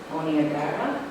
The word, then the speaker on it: Niagara: Like your work, Niagara, is that how you say it?